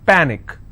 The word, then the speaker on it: panic: okay the rule says in case if you have any word that's ending with ic the stress should be on the last but one syllable so let's break this panic is per which means i will stress on pa and it's pronounced that panic tragic trick i will